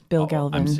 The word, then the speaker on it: Bill Galvin: So I always like people to pronounce their own names. It's Alderman Bill Galvin.